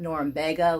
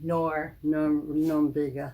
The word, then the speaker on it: Norumbega: Okay, because I like to call it Norumbega, like Lubega. That's not right. Norumbega.